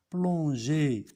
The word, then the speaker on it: plongeais: Je plongeais, E. On laisse le E pour prononcer plonger. Le E, on va prononcer je plongeais.